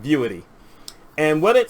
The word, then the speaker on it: Vuity: it's called beauty v-u-i-t-y i've heard it pronounced a whole bunch of different ways so i'm just calling it viewity and what it said